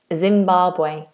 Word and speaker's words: Zimbabwe: And how do we pronounce Zimbabwe? Zimbabwe.